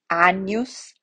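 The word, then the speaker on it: agnus: in our notes so g in is going to make a nea sound anus when it's followed by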